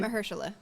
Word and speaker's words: Mahershala: Mahershala.